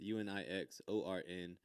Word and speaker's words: Unixorn: Yeah, instead of a C, it's spelled with an X. UNIXORN. And it's an acronym for uniquely, never, imitating, extra, or redundant nonsense.